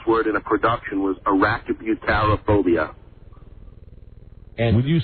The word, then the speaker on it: arachibutyrophobia: No, I said I could pronounce Arachnophobia.